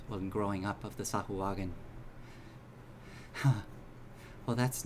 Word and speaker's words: Sahuagin: Sahuagin. That's how I pronounce it. I don't know if. All right, Safuwagan. Except Sahuagin.